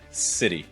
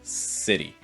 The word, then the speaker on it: city: we've talked about already so again short eye long eye e and then that t it's going to make a fast d sound so it's going to sound like d pronounced very quickly so together city city